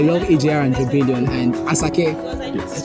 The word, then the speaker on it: Asake: And personally, I love AJR and Rebellion and Asake. Yes. Did I pronounce it right? Ashake. Ashake, Sorry.